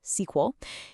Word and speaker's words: SQL: Well, for that there's a universal language, SQL. SQL, and you'll often hear it pronounced SQL, is how we communicate with the database.